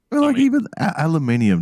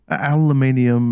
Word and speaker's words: aluminium: bad as this no they're adding us and they're adding an extra syllable into it it's a syllable they're actually they're adding an extra syllable into the goddamn words they're wrong aluminium and vitamins and all